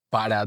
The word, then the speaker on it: para: Por ejemplo, si alguien pregunta para dónde vas, generalmente esto se convertiría como en para dónde vas. El para no se dice generalmente completo, se dice pa.